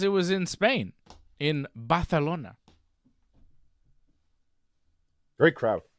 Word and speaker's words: Barcelona: was in Spain in balona great crowd say it John fantastic Barcelona Spain you didn't say it right well I have to say it like you Bona that's how they say